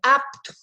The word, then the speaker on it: apto: Digno, pitialina, apito, parece apito, não é assim que pronuncia. A letra é muda, é apto, pitialina, gnomo, digno.